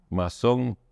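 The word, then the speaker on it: maçon: deriva del francés albañil masón pero con una Esa letra que es una C con un ganchito abajo llamada sedilla y que se pronuncia como Zeta masón españolizado masón con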